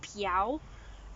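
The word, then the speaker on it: Pixiu: some some people probably pronounce it it's actually pronounced piao um yeah so it's like a little dragon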